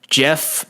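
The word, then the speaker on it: Geoff: anyways before that uh Jeff Neil it's spelled G off but I heard it's Jeff he's a dude from Texas so I guess it's just Jeff he might be from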